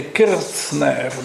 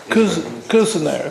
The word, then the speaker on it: Kirzner: I guess in Germany they would say Kirzner, but he lives in America. No, yeah, that's right, sorry. Kuzner, they pronounce it in America.